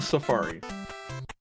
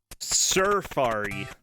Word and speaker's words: Surfari: Surf Designs, Thrilla Safari. Surfari, not a normal Safari. Yeah, you gotta say it like the cool gorilla dude.